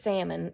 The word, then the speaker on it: salmon: I said, oh, I mean, it is salmon, even though it has an L. So why is the L there if you're not going to pronounce it?